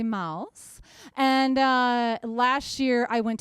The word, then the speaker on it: Maus: And Sexy Mouse is spelled M-A-U-S, like Sexy Mouse.